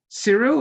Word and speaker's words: Kirill: Is it Cyril or Kirill or? Kirill, yeah. Kirill.